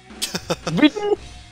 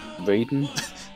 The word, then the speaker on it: Raiden: Ridden? What, did it say ridden? Yeah. I am ridden! I am ridden! Excuse me, it's pronounced Raiden.